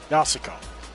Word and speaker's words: Yasuko: Majima-san said Yusuko-san's in danger. Yasuko-san. I guess I've been saying it wrong, by the way. Yasuko.